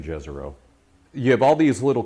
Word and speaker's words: Jezero: Now I'm calling it Jezero. It's actually named after a city in Croatian. It's pronounced Jezero. But the NASA folks have been saying Jezero. So Okay. I'm just saying Jezero.